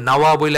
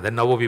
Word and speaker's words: নববী: আপনারা অনেকেই জানেন একচুয়ালি নাওয়া বলে একটা জায়গায় উনার বাড়ি ছিল নাওয়া সিরিয়ায় নাওয়াজ থেকে নাওয়াবী সেখান থেকে বাংলায় তো আর ওই উচ্চারণটা হয় না নববী বলি আমরা আচ্ছা নববীর সাথে নবীর